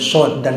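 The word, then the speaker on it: ص: Kita baca karena mad lazim harfi musbah 5 harkat, maka bacanya sod.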